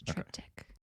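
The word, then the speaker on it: Triptych: the character of will Trent right okay that's trip tick is that how you say it yes trip tick then yes that's the one that I have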